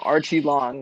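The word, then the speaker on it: Aoriqileng: You pronounce his name Archie Long, which is like, it sounds super American, but that's the way you say it.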